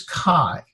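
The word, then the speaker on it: καί: one syllable word and it's the a Alpha Iota sound is like a diphthong is like aisle so this would be so be like ah I so this is chi and it means no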